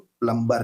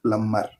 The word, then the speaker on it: plumber: एक बार फिर बता दूं, यहाँ बी साइलेंट है, इसीलिए आप इसको प्लम्बर नहीं बोले, इसका उच्चारण या सही प्रोनाउंसिएशन है वो है प्लम्बर।